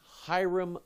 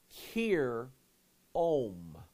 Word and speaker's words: Hiram: But Pike said that we're saying his name wrong, and the Bible has his name wrong. That Hiram isn't really Hiram, it's Kir Om.